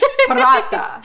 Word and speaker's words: Paratha: us a recipe called Paratha. Did I pronounce that correctly? Yes. Roll your R a little bit. Paratha.